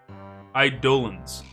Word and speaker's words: Eidolon: Eidolons. Eidolons? Eidolons? Eidolons. Alright, we're gonna check.